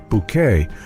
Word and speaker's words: Bucket: Her unrelenting quest for elegance paired with her insistence on pronouncing her last name as Bouquet rather than bucket became a classic comedic trope.